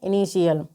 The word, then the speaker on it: initial: तो INITIAL को हम क्या पढ़ेंगे? इनिशियल।